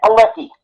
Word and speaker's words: Palicki: Yeah, well, it's Palicki, it's not Padalecki.